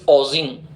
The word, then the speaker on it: oozing: The blood is ओजिंग, OOZING, OOZING। इसके उच्चारण दोनों होते हैं, ओजिंग एंड ओजिंग दोनों होते हैं।